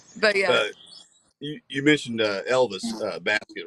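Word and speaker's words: Baskette: You mentioned Elvis Basket, right? The producer. Yeah. Is that how you say it, Basket?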